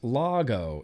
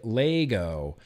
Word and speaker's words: Lago: our newest re-release of lago pronounced lago yes so many people say lego it was recently reviewed